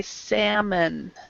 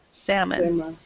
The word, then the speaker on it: salmon: and this word is the L is silent so we say salmon salmon yeah okay Andre a